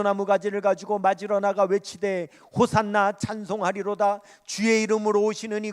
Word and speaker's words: 호산나: 흔들면서 호산나 아고 외치죠 여러분이 호산나 하는 말이 어떤 말이냐면 본토 발음으로 하면 호시하나 이렇게 부릅니다 호시하나이 말의 뜻은 우리가